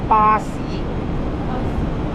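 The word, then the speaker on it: 巴士: These 2 words pronounced in Chinese called Ba Si.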